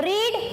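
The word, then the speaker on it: read: रीड, रेड, रेड. अच्छा, इसका spelling same रहता है लेकिन बोलते हैं उसको रेड है.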